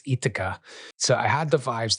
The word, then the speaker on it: Jitka: So I've kind of think I've learned that possibly the pronunciation is a silent J, so it's Jitka.